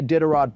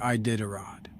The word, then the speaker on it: Iditarod: I don't see a Diderot propaganda, so I'm going to say a hard no. That's not how you say Iditarod.